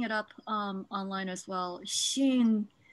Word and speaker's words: xin: Xin, it's the Chinese word xin. So basically, Shin is S-H-I-N is pretty much spot on Yep. in terms of pronunciation.